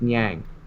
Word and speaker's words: Niang: I think it's Niang.